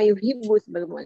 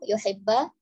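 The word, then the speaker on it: يحب: Kemudian hatta yuhibba juga tadi dibacanya hatta yuhibbu, bukan yuhibbu, yuhibba. Kemudian li akhihi agak cepat dibacanya li akhihi.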